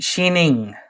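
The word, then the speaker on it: Xining: a city I don't want to try to pronounce oh come on give it a try she sheening Shen it perfect absolutely x i n i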